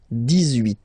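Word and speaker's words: dix-huit: So you will make this little link between the two, the liaison. 18, 18, 18.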